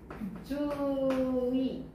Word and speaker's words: 주의: 근데, 주의, 주의. 얘는 좀 발음이 어렵지. 그러니까 첫 음절인 경우에는 우리가 발음이 좀 싫고 얘는 의로 발음을 해야 돼. 근데 둘째 음절인 경우에는 우리가 의로 발음을 하는 게 원칙이지만 이로 발음을 해도 되거든?